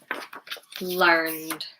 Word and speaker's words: learned: Is it voiced? Is it unvoiced? Learn, nuh, nuh. Learned, learned.